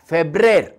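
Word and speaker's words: Febrer: दुसरो म्हयनो फेब्रेर, एफ ई बी आर ई आर, फेब्रेर, फेब्रुवारी.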